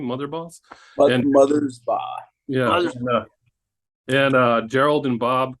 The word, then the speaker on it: Mothersbaugh: 2 sets of brothers in there, Mark and Bob Motherboss. How do you pronounce their name? Motherboss? Mothersbaugh.